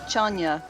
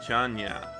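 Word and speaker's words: Chun-nan: It's actually pronounced Chanya. Okay, thank you. Chanya.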